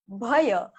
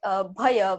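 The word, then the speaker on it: भय: We have a word closer to this, but it's bhaya. Not really separate bahaya, but bhaya, more like a closed, combined word bhaya, which means fear or something that you're scared of, something that is dangerous.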